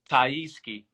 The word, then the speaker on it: TyeSkie: Did I say it right, TyeSkie? TyeSkie.